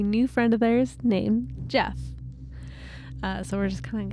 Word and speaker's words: Gef: important to mention that Jeff is spelled g f yes Jeff the talk